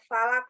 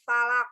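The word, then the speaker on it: فلق: aku gue a'udzu birabbil Falaq okna dalam pengucapan huruf qaf itu harus beda harus berbeda dengan pengucapan huruf k huruf k terletak di Pangkal lidah lebih dekat pada kerongkongan sedangkan huruf Kaf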